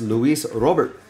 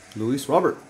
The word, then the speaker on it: Luis Robert: conference at the time where he said it's Luis Robert Luis Robert so that's what it is that's how he want wants it pronounce we'll go by from the uh from